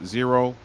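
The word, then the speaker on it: Xero: put a couple things in the comments uh zero or another accounting software package uh for those who don't know I think I pronounced that correctly x e o is accounting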